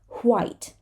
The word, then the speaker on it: white: But some people, when they want to sound sophisticated, and some people do, they still pronounce the H after a W. I mean, like in the word white, they're going to pronounce the H, but they're going to put the H before the W. Don't ask me why. Some people do that. So it's going to sound like white, white.